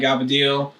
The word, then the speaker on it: cavatelli: Cavatelli, I believe is the... I don't even know what it's called. The right way to say it. My mom always called it Gavadeel.